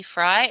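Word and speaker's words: Frey: is my email b fry at redmond.gov my last name is pronounced fry but spelled f-r-e-y so from an email's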